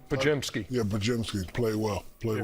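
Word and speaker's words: Podziemski: Pajimky.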